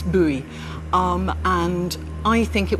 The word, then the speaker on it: Bowie: rifle or a pistol i always used to think that one pronounced his name bowie until somebody told me no you're wrong it's buoy um and i think